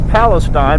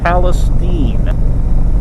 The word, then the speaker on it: Palestine: Texas for four years I've called this place Palestine but got some local information on this trip and the locals tell me the correct pronunciation is Palestine had a great time on this trip this